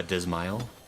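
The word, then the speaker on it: Dzemael: from which one uh dismile d-z-m-a-e-l uh oh it's a male I think it's male D is the D is silent oh somebody says it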